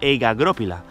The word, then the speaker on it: egagrópila: Señora, escuche bien cómo se pronuncia egagrópila.